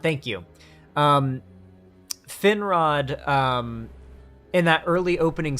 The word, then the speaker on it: Finrod: i can see it i can see how it's spelled finrad thank you um finrod um in that early opening scene where he's